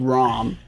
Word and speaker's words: Ram: It's spelled Ram, but said Rom.